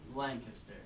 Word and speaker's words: Lancaster: Lancaster Lan how do you say I say Lancaster there you and they also ask questions and